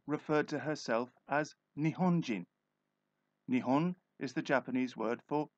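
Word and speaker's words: 日本: to herself as Nihonjin Nihon is the Japanese word for Japan so Nihonjin is Japan person or Japanese the word Nihon in a sporting context is often pronounced Nippon in the stadiums in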